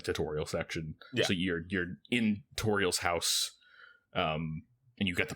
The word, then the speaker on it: Toriel: So you're in Toriel's house, and you get the pie, is what you told me. Wait, her name's pronounced Toriel, and it's the tutorial.